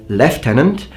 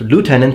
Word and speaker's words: lieutenant: are mispronouncing the word left tenant um because in America it's pronounced lieutenant and that makes more sense because it's closer to the original pronunciation of the original French word and uh so basically's